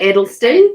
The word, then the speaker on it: Edelston: Is that how you say his name? Edelston, yes.